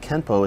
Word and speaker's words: Kenpo: this would mean that Kenpo is technically spelled with an N but should be pronounced with an M through romanization it is